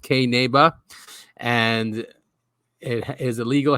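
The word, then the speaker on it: Qinneba: well it's spelled q-i-n-n-e-b-a it's a weird spelling because it's ancient Aramaic and it means hemp in uh in Aramaic so q-i-n-n-e-b-a uh it's also pronounced K neba and it is a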